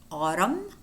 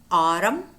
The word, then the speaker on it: autumn: couple of words in which the letter n is silent namely him him autumn autumn Solem so them condemned condemned column column damn